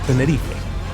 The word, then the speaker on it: Tenerife: There's I think I saw the Spanish flag, so that's why I know that they pronounce it Tenerife.